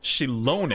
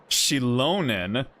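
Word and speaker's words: Xilonen: Forge those things okay I was saying that 100% wrong this entire time okay chilonin so you pronounce the ex like a like a Chinese X then interesting all right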